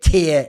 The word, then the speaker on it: tier: saying that so anyway just don't say TI try and say tear if you can and it's one of